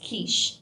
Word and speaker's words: Cush: And Cush has also been spelled as Kish. It's spelled and pronounced in a different manner.